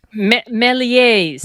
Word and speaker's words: Méliès: George Méliès. Méliès, yeah. But shouldn't that S Georges have been Méliès.